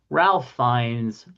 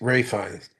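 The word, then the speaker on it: Ralph Fiennes: Well, we did have some notable birthdays for this day, including Diane Sawyer, Ralph Fines, Ladybird Johnson, and Megan Trainer. She's all about that base. You know, it's pronounced Ray Fines.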